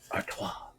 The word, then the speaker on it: Artois: Artois.